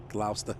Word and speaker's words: Gloucester: Wis ter Oh Gloucester yeah gosslau Chester right Glouster we all up we yell up you guys